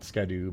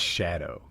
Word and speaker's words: Scadu: don't have any yet it's pronounced Shadow if I understand it correctly but it's spelled s c a du for shadow so yeah all right